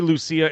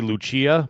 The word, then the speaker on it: Lucia: how I say yeah well they say Lucia in the video I mean my people would say Luchia but that's how they say it oh okay well